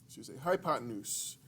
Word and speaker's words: hypotenuse: it you'd say hi then you'd say pi hypotenuse that's how we pronounce it so a couple key things about